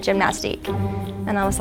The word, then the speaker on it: Gymnastike: And like 3 out of 5 said gymnastique. And I was like, fine, it's gymnastique.